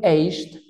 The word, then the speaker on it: aged: Pero esa D al final tengo que marcarla. Aged. Y cierro la dentadura.